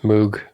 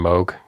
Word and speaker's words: Moog: mugs you had and I know I'm pronouncing that wrong it's somewhere between Moog and Moke Moog mwg it was